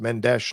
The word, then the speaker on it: Mendes: Menddees is Brazilena, so it's pronounced Menesh, not Spanish. Obligado. I'm going to come find you. And we're gonna have a conversation. Camila doesn't pronounce her last name. Mendesh.